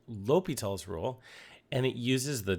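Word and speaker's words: L'Hôpital: called l'hopital's rule now it's a french name it's pronounced l'hopital and we need to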